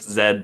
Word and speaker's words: Zed: So I was originally going to go with the name ZepperZed, because like Zipper because of the hoodies, Zed because I'm Canadian. I gotta rep the correct pronunciation of the last letter of the alphabet.